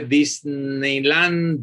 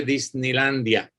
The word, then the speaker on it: Disneylandia: un disparate lo verdad tampoco se dice disneyland a se dice disneylandia porque entonces ella hecha